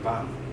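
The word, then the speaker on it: bomb: 밤. 이때 B가 발음이 안 되고요.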